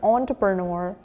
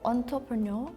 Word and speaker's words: entrepreneur: It's entrepreneur. Oh, entrepreneur. It's not entrepreneur. I just fought with my friend on this one. He kept saying it's like entrepreneur. I'm like, "No, it's on or but not enter."